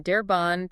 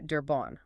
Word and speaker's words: Derbanne: It goes from Derban to Derbon with an O around the time of Paul Alexandre and Louie Derbon in the 1800s.